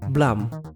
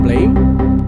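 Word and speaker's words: Blame!: deskripsi sebuah manga dengan judul blam seperti itu cara membacanya bukan Blame blamang sebuah manga karya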